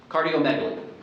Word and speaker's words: cardiomegaly: Cardiomegaly.